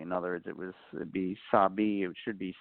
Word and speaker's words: Sabe: In other words, it'd be Sabi, it should be Sabe, just so that the actors would pronounce it proper during the air.